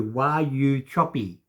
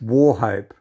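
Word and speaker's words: Wauchope: a why you choppy it's pronounced war hope so this is another one of these stupid australian names it's why you choppy war hope and that is the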